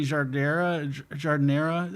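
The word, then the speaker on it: giardiniera: She does say jardinera.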